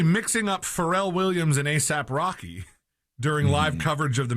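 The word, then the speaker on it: A$AP Rocky: Williams, the English commentator said, "I think that's AKA Rocky." Oh my god. So, he said the name wrong and had the wrong person. So, before quickly correcting himself and saying or ASAP Rocky, sorry.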